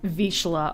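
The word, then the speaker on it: Vizsla: big they are p.s they're pronounced vicila okay yeah i said vizila because that's how it's spelled to me those big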